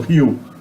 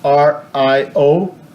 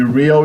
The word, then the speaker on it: Rio: Okay, the letter R in the beginning of a word in Portuguese is pronounced like an H in English, Rio, and the letter